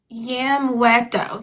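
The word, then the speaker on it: Yamueto: Yamto. Yamto. The u is silent because uh y a y a m u e t o.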